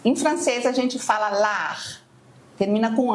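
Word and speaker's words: l'art: Em francês a gente fala lar, termina com r, mas ele se escreve a rt. É verdade. A gente não pronuncia o t.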